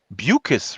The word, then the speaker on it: Beukes: is prolific writer lauren buchus rhymes with mucus as she informed me